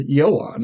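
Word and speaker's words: Ioan: Four and 2005 with yoan Griffin uh Jessica Alba and Michael chicklas hey I remembered some names and I said yoan I pronounced it correct but fantastic for the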